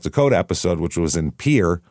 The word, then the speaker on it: Pierre: episode, which was in Pier, which is how they pronounce Pierre because they hate French people, I assume.